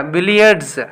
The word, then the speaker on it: billiards: Yeah, billiards. Billiards. Actually, here the word ends with s, but it pronounced as z.